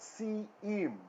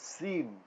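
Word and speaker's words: שִׂים: It's not si-im, right? It's sim. Sim. Because this yod is not a consonant here.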